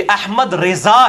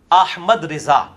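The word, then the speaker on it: احمد رضا: ये अक्सर कहते हैं सारे मौलवी, अहमद रजा खान साहब ने लिखा है, ये सारे बरेलवी देवबंदी अहले हदीस शिया चारों ये गलत प्रोनाउंसिएशन करते हैं, ये अहमद रजा है, अहमद रजा, तो ये तो सारे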